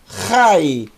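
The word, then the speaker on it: חי: então l por favor ri ri uma sílaba só Rai vida para o hashem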